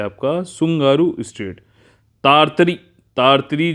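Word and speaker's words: Tsugaru: तो अगला जो है ये है सुंगारू, टी साइलेंट रहेगा, सुंगारू स्ट्रेट, ठीक, ये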